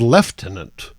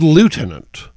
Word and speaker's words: lieutenant: basically the same uh left tenant is how once Great British randos pronounced lieutenant and most of the rest of your planet pronounces it Lieutenant so again complicated but